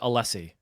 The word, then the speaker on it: Alessi: your last name uh I pronounce it alessi uh all right then that's the right pronunciation that's the right pronunciation how would you like us to pronounce it you could say it however you want I I've had people say uh in every variation of that so My grandmother used